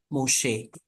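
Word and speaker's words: משה: Here, m, so mo, and this one is a shin, so sh, and then a segol, she, Moshe.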